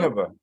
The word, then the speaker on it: Nineveh: So pronounce the name of the book. Nineveh.